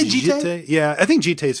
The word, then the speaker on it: Jitte: Jitty, I've heard Jit, I've heard Jitte. I've heard. I actually literally don't know what the answer is. So there was a guy from Japan that used to play in my local store, and I asked him, and he said Jitte. Okay. So that's what I go with, Jitte.